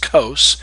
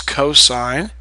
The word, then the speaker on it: cosine: this sign long I you pronounce this cosine you don't say just Co it's cosine and this is tangent short